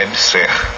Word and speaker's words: EBSERH: Justiça suspende convênio entre UFMA e Ebser. Isso. E professora, eh, diz assim a notícia, uma limina pedida pelo juiz federal José Carlos do Vale Madeira suspendeu a adesão da UFMA a EBSER. Essa pronúncia EBSER, isso.